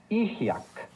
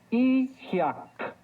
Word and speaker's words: Ijiac: Ijiac. ¿Escuchaste la terminación k? Ijiac. Recuerda que en el náhuatl las palabras se acentúan en la penúltima sílaba.